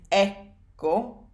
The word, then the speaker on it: ecco: The stress on ecco is ecco, and then when you add a pronoun to the end, it becomes eccomi, eccolo, eccole, eccoci. So that stress stays on the first syllable.